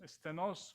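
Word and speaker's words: στενός: para la vida eterna la palabra angosto es senos estenos con acento en la o y según el original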